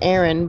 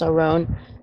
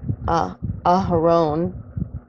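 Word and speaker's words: ארון: well if you read it in English it's Erin but it's pronounced around and that is Moses his brother's name Aaron or in the Hebrew you would you would say ah her own and as you see here it also means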